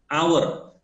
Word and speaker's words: hour: Hour, the H is silent, so you say an hour, not an hour, not a hour, no, an hour, right?